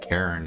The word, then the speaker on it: Karrin: I guess one not so obvious thing is Karen is spelled Karrin. Yeah, yeah, Marshall's pronounced it like it looks at first.